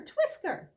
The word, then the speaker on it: Twisker: Twisker, Twisker, what do you say? Do you know any games to play? Called Joey. Why do you think the mouse is named Twisker? It rhymes with whiskers, doesn't it?